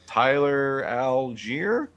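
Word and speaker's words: Tyler Allgeier: can never say his name right but uh tyler algiere that is right okay it is right okay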